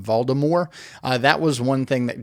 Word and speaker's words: Voldemort: There were a couple little nitpicks that I had with it, like they don't pronounce the T in Voldemort, so they call him Voldemort.